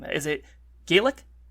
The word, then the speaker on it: Gaelic: Is it Gaelic? It's Gaelic when it's Irish, and it's Gallic when it's Scottish, or at least that's what I was told.